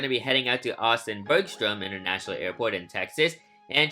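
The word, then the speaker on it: Austin-Bergstrom: like the Austin inaugural Sacramento flights I said Austin Berg storm unfortunately that's the incorrect pronunciation of that airport it's actually Austin Bergstrom because there's an R because like I mean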